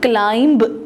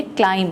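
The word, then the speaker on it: climb: हम इसको क्लाइंब नहीं पढ़ेंगे। हम इसको पढ़ेंगे क्लाइम। बी साइलेंट है।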